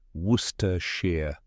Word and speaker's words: Worcestershire: one more time ready say it with me Worster Shear awesome you nailed it thanks for watching if